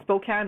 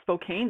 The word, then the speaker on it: Spokane: the utility company in Spokane Washington also it's pronounced Spokane not Spokane they had to teach me that and Spokane